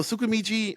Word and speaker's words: Tsukimichi: So Tsukimichi, I think it's Tsukimichi. Yeah, Tsukimichi. I know it starts with a T, and the T is silent.